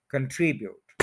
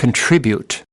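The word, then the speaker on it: contribute: important है तो ये आप सुन भी लें कंट्रीब्यूट कंट्रीब्यूट कंट्रीब्यूट कंट्रीब्यूट इस तरह से अब ये सारे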